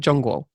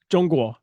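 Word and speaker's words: 中国: Zhongguo. Zhongguo.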